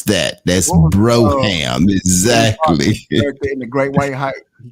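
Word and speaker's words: Brougham: see see people don't understand that's how you pronounce that it's not Braum it's Broham that's that's how you pronounce that that's Broham exactly the great white he kept talking I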